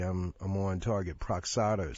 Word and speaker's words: Pradaxa: Proxada, something like Pradaxa. Pradaxa, yeah. Pradaxa.